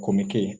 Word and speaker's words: Chomicay: by name so um popularly referred to as Dr komiki so in case you need to learn the pronunciation Dr kumiki asked how I pronounce